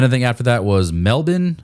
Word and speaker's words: Melbourne: And then I think after that was Melbourne. I think we in the US pronounce it Melbourne, but I think it's Melbourne, if I'm not mistaken.